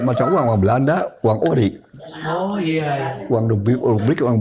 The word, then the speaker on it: ORI: Ori, ORI, uang Republik Indonesia. Uang. Ori itu uang Republik Indonesia. Bukan original, tapi uang Republik Indonesia. Singkatannya ORI. Ori, ya.